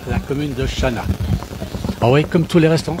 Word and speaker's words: Chanaz: à voir tout cela alors cet endroit c'est Chana c'est pas très loin d'exb c'est pas très